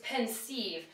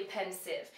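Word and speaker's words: Pensieve: e v is pronounced you might think it's pensive but it's actually pensive and because these words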